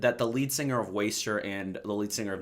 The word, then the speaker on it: WSTR: today I'm going to be reviewing the new waster album waster it's pronounced waster it took me forever to find that out